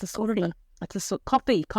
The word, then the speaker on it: Ko-fi: or something, I think that's why it's called coffee. It's actually spelled Ko-fi.